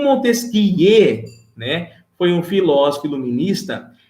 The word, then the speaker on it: Montesquieu: um cara né chamado montesquie e na francês na verdade se escreve montesquieu mas se lê não disse que é